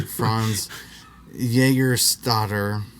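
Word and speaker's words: Franz Jägerstätter: The Austrian Franz Junkmeister, that's not how you say his name, Franz Jägerstatter, a conscientious objector, refused to fight for the Nazis in World War II.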